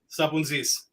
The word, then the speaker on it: Sapountzis: Sapountzis.